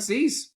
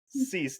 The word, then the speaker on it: Cease: Is it Cease? Oh, you did fantastic. Yeah, Dylan Cease. Yes. Cease, not Sice. Yeah. Cease.